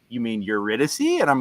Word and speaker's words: Eurydice: Like, I got to get the Italian stank on it, Eurydice. Yeah, no. My friend was like, you mean Eurydice?